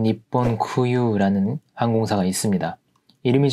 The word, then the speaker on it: 日本: 이 일본 항공사와 ANA라고 부르는 젠 니폰 쿠유라는 항공사가 있습니다. 이름이 좀 어렵죠. 여기서 일본을 읽을 때는 니혼이라고 읽지 않고 니폰이라고 읽어주셔야 되고요.